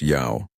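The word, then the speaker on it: 瑶: In Mandarin, it is pronounced Yao.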